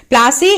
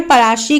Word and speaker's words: पलाशी: प्लासी एक एंग्लिसाइड प्रोनाउंसिएशन है पलाशी का।